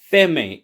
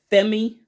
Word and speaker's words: Pheme: this is the E18 FEI if FEI if Google didn't lie to me FEI is how you pronounce it pH M but yes